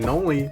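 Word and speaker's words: Knoli: And I'm Noli, the K is silent, and this is SCP Weekly.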